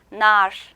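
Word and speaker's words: nar: 석류는 터키어로 날 이렇게 발음이 됩니다.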